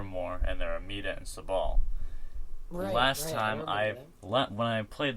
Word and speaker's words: Sabal: Sabal. Yeah, that's how you pronounce it.